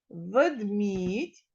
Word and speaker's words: ведмідь: а в слові ведмідтьь Ведмідь а тут наголос на другому слові на другому складі Отже другий склад в